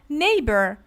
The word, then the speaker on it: neighbor: you say colleague okay neighbor G and H are silent classmate it has two